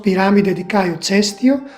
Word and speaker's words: Piramide di Caio Cestio: In Italian it is pronounced Piramide di Caio Cestio or simply Piramide Cestia.